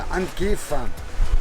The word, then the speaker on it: Ankify: Et puis on se dirige sur Ankif, qui s'écrit Ankifi, mais on va à Ankif, pour normalement la dernière destination de Madagascar, le dernier truc qu'on doit aller visiter.